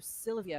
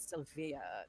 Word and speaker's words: Sylvia: No, Sylvia, not Sylvia. Yeah, you have to put the emphasis on the correct syllable.